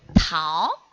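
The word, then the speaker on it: 桃: It's Tao.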